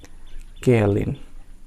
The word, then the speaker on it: kaolin: दोस्तों हमारा next word है केयलिन। Spelling KAOLIN।